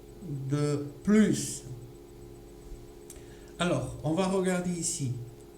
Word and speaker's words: plus: On a un adjectif qui commence avec une consonne. Le S ne va pas avoir de son. Donc, c'est-à-dire c'est un S muet, pour ainsi dire. Donc, on ne va pas l'entendre. On n'entendra pas le S.